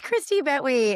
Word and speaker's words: Christie Bettwy: And bringing you into this podcast and talking about you, is it Christie Bettwy? Did I say it right? It is Christie Bettwy, and you did it.